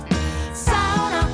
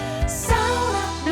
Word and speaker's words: sauna: Sauna, not sauna.